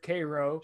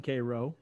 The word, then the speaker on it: Cairo: Well, this time I went a little west to a place called Cairo, not Cairo. It's pronounced there Cairo. Shout out my guy Harlan who lives in Cairo.